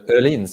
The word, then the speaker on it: Öhlins: And if we look at Öhlins, did I say it right? Yeah. Yeah, Öhlins in Swedish, yeah.